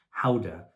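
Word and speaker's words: Gouda: like a Swiss cheese ybur cheese GDA cheese guda is actually pronounced Howa in the Netherlands um those actually contain vitamin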